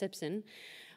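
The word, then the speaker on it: CPCSSN: The data came from the Canadian Primary Care Sentinel Surveillance Network, pronounced SIPSN, a national organization that extracts clinical care data from electronic medical records.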